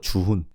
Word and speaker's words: Juhoon: you just call it Chuhun. Yes. Same thing with Chuhun. Instead of saying Chuhun, Chuhun. Do you see the difference? Is that you shouldn't put the accent on the h. It's just Chuhun.